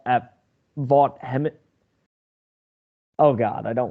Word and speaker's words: Vaught: kiffins the lane train at Ole Miss at vault at Vaught Hemet oh God I don't want to get the stadium name wrong Vaught Hemingway stadium in Oxford um Alabama